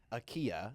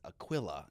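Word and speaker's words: Aquila: the word Aquilla cuz it's not AIA you know it's not like a l sound it's Aquilla and uh yeah I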